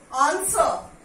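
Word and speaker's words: answer: आंसर, डब्ल्यू is silent.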